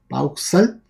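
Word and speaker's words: Vauxhall: Sin embargo, había otra empresa que es Southwark and Baulux, ¿no? Si más me equivoco, Bauxal. Bauxal se llama. se se pronuncia de esa manera o también conocido como eh isup.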